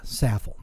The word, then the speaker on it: Saffold: Jacob Saffold, Saffold, that's how you pronounce it.